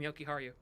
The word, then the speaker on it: Jokiharju: that I was really focusing on was Henry Jokiharju because he had Jokiharju. I can't ever say his name properly. No, you said it right the first time, Jokiharju.